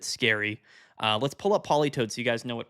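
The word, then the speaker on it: Politoed: Uh, let's pull up Poly Toad. So, you guys know what Polytoad does. Polytoad is spelled weird. It's like T O E D, I think.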